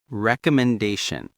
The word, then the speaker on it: recommendation: Recommendation. Reco. Five syllables with the primary stress on da.